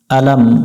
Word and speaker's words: ألم: আলাম, এখানে তাড়াতাড়ি উচ্চারণ করব, অনেকজনে ভুল করে আলো, এটা জবরে আকারটা বাদ দে, আলাম আ, একটু গলা